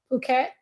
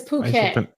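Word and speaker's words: Phuket: he went to um puket in Thailand then he came back to me and two days after he came back they had a big it's poo cat oh that's how you pronounce it all right saying [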